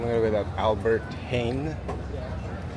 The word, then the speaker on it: Heijn: So I'm gonna go with that Albert Heijn. I think the J is silent.